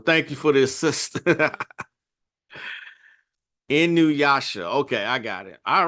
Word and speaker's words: Inuyasha: Best way to pronounce it. Well, thank you for the assist. Inuyasha.